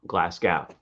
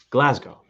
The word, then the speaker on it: Glasgow: it wrong glass go now gao oh not glasgow glasgow right and it's not glass it's glass so it's it's a little bit shorter and i only know this because i know people from scotland glasgow sorry glasgow there we go i'm overthinking it